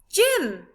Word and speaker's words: gym: They're in the gym. Sound it with me. J, I, M. Gym. Your turn. Well done. The I sound is spelt with a Y.